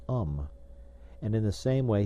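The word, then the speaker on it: homme: So when he pointed to the word man, which he had printed upon a piece of bark, he learned from Darnau that it was pronounced um and in the same way he was taught to pronounce ape son and tree ar.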